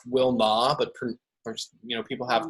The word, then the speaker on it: Wilnau: like for my name my name is kind of hard to pronounce it's pronounced Wilma but you know people